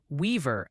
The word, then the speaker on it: Weaver: And by the way, it's Weaver, Iowa. The pronunciation police are on duty.